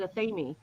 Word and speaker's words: athame: high priest said it he said a themey is the British pronunciation and those of us who were trained by English trained people usually say a themey anime is the U.S pronunciation of the word yeah